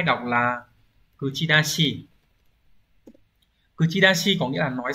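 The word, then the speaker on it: 口出し: Từ số 2 đọc là kuchidashi.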